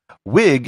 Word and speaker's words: Whig: does sound really weird wig is spelt with an h and it has nothing to do with wigs that you wear on your head wig is short for